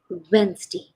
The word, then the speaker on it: Wednesday: you know you usually we say Wednesday Wednesday but actually it is Wednesday Wednesday okay the D is silent here Wednesday Wednesday okay now